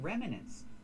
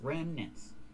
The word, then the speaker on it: remnants: It's two syllables. Remnants. It's not three. Remnants. No, it's two.